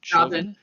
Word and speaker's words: Chauvin: Chauvin.